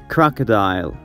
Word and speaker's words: crocodile: دوست عزیز متوجه باشین که کروکودیل یا کروکودایل تلفظ نمیشه. بعد از آر یک صدای مثل like in conversation. یک صدای بسیار خفیف است مثل crocodile, crocodile, crocodile, تمساح.